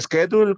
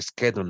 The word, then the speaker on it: schedule: How to make a schedule, cómo hacer un horario. Vean cómo se pronuncia schedule, no es schedule.